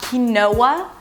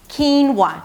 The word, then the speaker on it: quinoa: Not qui-noah, keen-wah. Two syllables, the first one, is /k/ sound, and than a high 'ee', 'keen', ended it with an /n/, that's the primary stress. And then it's a /w/ sound - 'whoa', and the /ah/ as in "father" - 'wah'.